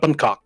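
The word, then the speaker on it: bánh khọt: It's called Bunok. Yes, that's how we pronounce it.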